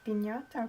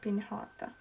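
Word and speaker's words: piñata: i pronounce that right it is pinata pin hotter you think it's pinata um but actually you're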